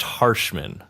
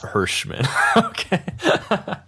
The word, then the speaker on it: Harshman: those ways yeah awesome it is so it's pronounced Harshman yes not hirschmann Hirshman funny well successful dropouts you've been hanging